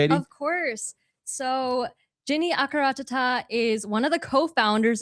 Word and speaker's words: Jinny Akkaratatta: Jenny Akaranatita? Yeah. Is that how you pronounce it?